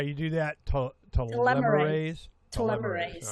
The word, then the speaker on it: telomerase: Well, one of the things is to increase the telomerase so that they're, taking care of the. I got to say it right. Now, how do you do that? Telomerase.